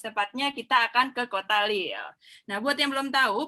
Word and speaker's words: Lille: Bacanya Lil apa Lile Mbak? Lille, bacanya Lil ya? Ya. Oke, jadi bukan Lile. Bukan Lille, bukan Lille.